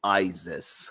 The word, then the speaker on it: Isis: Joanna Cameron and said, is it Isis or Isis? He said Joanna was like, it's Isis. That we knew.